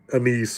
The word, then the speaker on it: anise: An n i s e. I've heard it pronounced anise, but I think it's annis is the proper pronunciation.